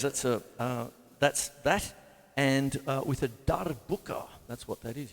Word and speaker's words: darbuka: And with a darbuka, that's what that is. You've got to try and roll your R. Darbuka.